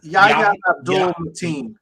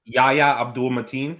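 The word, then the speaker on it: Yahya Abdul-Mateen: It's Yahya Abdul Mateen. Yahya Abdul Mateen.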